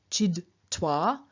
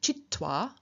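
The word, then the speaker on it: छित्त्वा: To look at a couple of examples, chid, meaning to cut, does not have an absolutive chid-toi, but rather the D changes into a T and we get chit-toi, which is much easier to pronounce.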